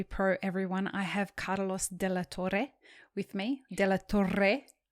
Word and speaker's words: de la Torre: I have Carlos de la Torre with me.